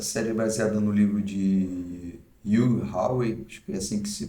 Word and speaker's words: Hugh Howey: 10 Episódios essa série baseada no livro de you Hawaii assim que se pronuncia o nome do autor e é uma